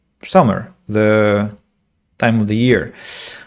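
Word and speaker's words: Sumer: what I'm talking about Wikipedia thankfully does summer so it's like summer the time of the year okay summer then summer or Mesopotamia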